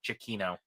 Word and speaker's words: Giacchino: Chiquino.